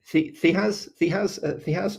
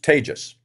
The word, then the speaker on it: Tejas: Because we just had a comment from Thihaz. Sorry, I'm pretty sure I butchered that. You pronounce it Tejas. Tejas.